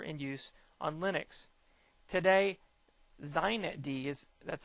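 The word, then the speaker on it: xinetd: primary super server in use on linux today zeinet d is that's how they pronounce this with an x x i net d or z knit d is pronounced predominantly used the configuration file for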